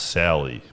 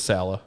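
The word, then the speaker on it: Saleh: so robert sala yeah it might be pronounced sally but it says salah salah all right so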